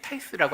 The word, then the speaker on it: tithe: 11조, 즉 10분의 1을 드려라 라고 할 때 타이스라고 하는 첫 번째 단어가 있고요. 텐스는 10번째 거에 해당합니다. 그러니까 11조라고 하는 개념이 밑에 이제 조금 이상하게 생긴 게 히브리어고 영어같이 생긴 게 헬라어입니다. 히브리어도 보면 이 타이스나 텐스라고 하는 번역어를 쓸 때 다 이 히브리어에서